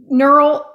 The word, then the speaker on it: Gneural: Okay, now, neural, I'll say the G is silent.